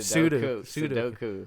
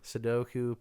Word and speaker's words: Sudoku: puzzle or a Sudoku I always say it wrong every time pseudo Sudoku puzzle book I used to